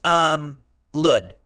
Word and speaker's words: allude: a verb it's pronounced um lud with the stress on the second syllable meaning to elude means